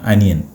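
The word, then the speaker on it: onion: പറയുക അഭിനവേ ഒനിയൻ ഒനിയൻ ഈ ഒനിയൻ എന്നല്ല ശരിക്കും ഉച്ചാരണം അനിയൻ അനിയൻ ഇളയ ആളുണ്ടല്ലോ അനിയൻ അനിയൻ ശരിക്കും അങ്ങനെ പറഞ്ഞാൽ മതി കറക്റ്റ് അതാണ് കേട്ടോ നമ്മൾ ഒനിയൻ എന്ന് പറയും പക്ഷെ ഒനിയൻ അല്ല അനിയൻ അനിയൻ ഓക്കേ ഓക്കേ യെസ് എന്നാൽ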